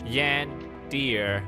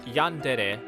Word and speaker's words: yandere: of comments from you guys are saying I've butchered the word and it hurts so much. Yand deer. There is no way you don't know what a yandere is. By the way, it's pronounced yandere, not yandere.